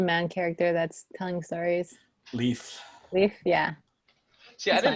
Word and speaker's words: Leif: character that's telling stories leaf leaf yeah see i didn't know i didn't know if it was supposed to pronounce it leaf or like life pressure sleeve yeah i mean